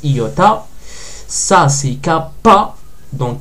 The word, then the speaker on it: iota: sans le point majuscule c'est le i qu'on connaît mais ça se prononce iota ça c'est cap pas